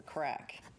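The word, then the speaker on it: craic: So, like, if you're out socially and you met somebody, you'd say, what's the crack? Oh. And crack is spelled C-R-A-I-C, which means...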